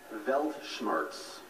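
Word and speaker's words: Weltschmerz: math competitions and I play tennis and piano velt Schartz velt Schartz can I have the language of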